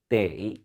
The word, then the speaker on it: 得: 한다라는 의미로 쓰일 때, 조동사로 쓰일 때는 발음이 완전히 바뀝니다. 때이 삼성으로 때이라고 발음해 주셔야 되고요.